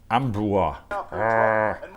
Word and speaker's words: Ambroise: How do you pronounce St. Ambroise? Ambroise.